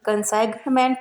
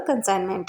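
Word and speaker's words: consignment: इसी तरह कंसाइनमेंट में एन से पहले जी आया है तो यहाँ भी जी साइलेंट है, ये कंसाइनमेंट ना होकर कंसाइनमेंट है।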